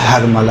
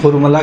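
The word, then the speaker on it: حرملہ: یقینی طور پہ ہرملہ۔ دیکھیں اصل تلفظ ہرملہ ہے، جسے ہم لوگ اپنی زبان میں ہرملہ کہتے ہیں، صحیح؟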